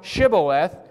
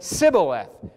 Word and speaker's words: Shibboleth: And if he said, Nay, then said they unto him, Say now, Shibboleth. And he said, Sibboleth, for he could not frame to pronounce it right.